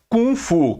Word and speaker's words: kung fu: Kung Fu ku NG que na realidade é uma questão de pronúncia americana com uma série americana é como um americano pronuncia porque o nome correto é Call mesmo né que é kung fu é o nome correto de você pronunciar porque com que é